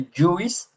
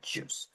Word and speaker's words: juice: Here we don't pronounce the I, no? We don't say juice, no. We say juice.